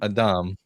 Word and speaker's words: Adam: Well, I mean, actually, in Hebrew, it is pronounced Adam.